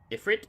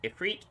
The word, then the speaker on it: Ifrit: come all our troubles we get different Ifrit ifriet depends on where you come from how you pronounce that I thought